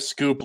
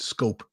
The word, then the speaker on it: Schoep: I didn't know his name was pronounced Scoop. I've been pronouncing it Scope.